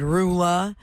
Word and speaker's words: Roula: I watch that online I put my name and I put r as rhymes with cow oh nice I gave